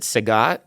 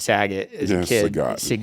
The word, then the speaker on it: Sagat: you you were uh you pronounced it Sagat it's not I always said Saget Street Fighter it's a